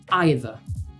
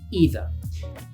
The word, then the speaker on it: either: This word is either, or you can pronounce it as either.